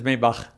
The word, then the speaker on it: Maybach: so please help me is it maybach or maybach or japan german is maybach but it's fine okay